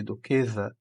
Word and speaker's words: duquesa: Então, a forma correta de duquesa é com S e não com Z. E lembrando que o S, entre duas vogais, ele tem, né, som de Z.